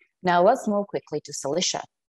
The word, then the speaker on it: Cilicia: Now let's move quickly to Cilicia. Cilicia, or Cilicia, sometimes it's pronounced this way too, is a large region in southern Anatolia.